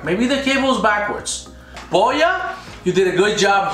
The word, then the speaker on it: Boya: ahead and unbox this boya is it boya is things pronounced boy it's boya nagoya let's see what's inside okay